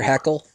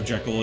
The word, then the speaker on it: Jekyll: Heckle. No. Robert Louis Stevenson, the author of the original novella that spawned the Dr. Jekyll and Mr. Hyde franchise, for lack of a better term, pronounced it as Jekyll.